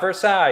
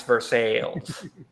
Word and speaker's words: Versailles: Yeah, but we also pronounce it Versailles. So What? Versailles. It's not Versailles. It's Versailles. All right, that's fine.